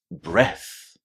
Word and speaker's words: breath: The one without the e is a noun and it has a short e inside. Breath.